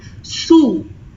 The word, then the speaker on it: sous: Please note the difference between these two. The pronunciation for is, it has the oo sound. Sous. Here it has the u sound.